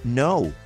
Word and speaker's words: know: sé yo digo I know Y si ustedes recuerdan bien ese no comienza con k pero no se pronuncia es decir que es totalmente muda para decir silbato o